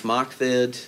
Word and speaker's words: MOCVD: Now we've got 2 more exciting announcements, including Alliance MOCVD, which I pronounce Alliance MOCVID. It's a little, rolls off the tongue a little bit better.